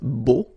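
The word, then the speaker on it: beaux: Okay, so you put this X at the end, but then you don't pronounce it, so it's beau.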